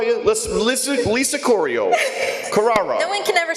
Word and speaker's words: Corrao: Corrao.